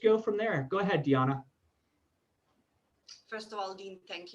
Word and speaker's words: Dijana: on here and with dejianna the j is silent isn't it it's diana all right i was